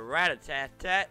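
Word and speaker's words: Rattata: Alright, let's not waste thunder on a rat-a-tat-tat. Let's use Thunderbolt. I know it's spelled rat-ta-ta, but I don't care. Rat-a-tat-tat sounds cooler. Rat-tata just doesn't flow off the tongue.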